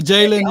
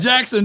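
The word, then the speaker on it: Jaxon: You pronounce his first name, because it's not Jalen. It's not Jalen. Not Jalen. Jackson. It's Jackson Smith.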